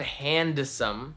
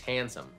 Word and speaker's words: handsome: It's not handsome, right? We don't really make an effort to make that letter stand out. We don't say handsome, right? It's just handsome.